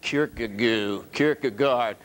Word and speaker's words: Kierkegaard: How do you pronounce it? Kierkegaard.